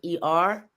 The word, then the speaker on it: Hrw: So that it would be pronounced like er.